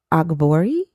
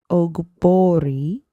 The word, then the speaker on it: Ogbori: Ogbori. So the GB, it's pronounced Bo, not good Bo. It's Bo.